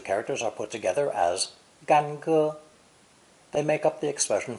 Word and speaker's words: 干: This three-stroke character is pronounced first tone. Gan.